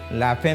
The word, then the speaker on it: La Femme: नाम सजेस्ट कर अने लाफेम न अर्थ थाय के स्त्री माटेनी संस्थान रियल प्रोनाउंस लाफा लोको ने अत लाफेम लाफेम करने जो लाफेम अहमदाबाद का